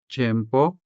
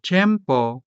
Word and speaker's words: tiempo: So, tiempo could be said as tiempo tiempo.